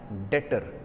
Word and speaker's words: debtor: that is detor here while pronunciation B is silent so remember B is silent here so we pronounce it as Detter d e t o